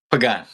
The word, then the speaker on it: Pagan: Is it Pagán? Is that how you Is that how you pronounce it Pagán? Pagán.